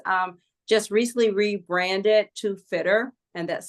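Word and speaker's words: Fittr: Um just recently rebranded to Fitter and that's spelled Fi TR.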